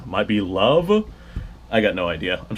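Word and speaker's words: Loewe: can see it manufactured low Berlin l e we Berlin so I'm sure that I'm butchering that pronunciation because uh the W in German is pronounced like a V might be love I got no idea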